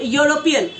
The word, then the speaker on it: European: about a useful and European, so though it is starting with E when we write or U, but it is pronouncing like Y.